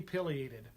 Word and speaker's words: pileated: whatever the rules are that it should be pileated um i've been bird watching for 35 years